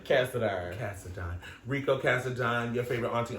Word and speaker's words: Cassadine: Cassadine.